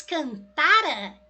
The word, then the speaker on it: cantara: Mas cantara, que a sílaba tônica é o tá, isso daí é para gente um pretérito mais que perfeito.